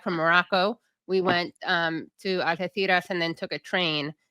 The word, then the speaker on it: Algeciras: Now, Algeciras, by the way, that's how you say it in Spain with the theta.